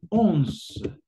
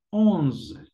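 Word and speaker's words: onze: La manera de pronunciar, chicos, sería once, once, once.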